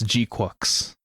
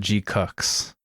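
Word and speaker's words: GQuuuuuuX: Uh, Gqu I figured out how to pronounce it while watching the movie. I took my brother to see it and my brother's like, "How do you pronounce this?" I'm like, "I don't know. We'll find out during the movie, I guess. And uh yeah, it's it's G Cooks.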